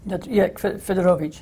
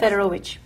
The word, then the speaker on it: Fedorowicz: One is a quote by the satirist, help me with the pronunciation, Jacek Fedorowicz? Fedorowicz, yes. Fedorowicz.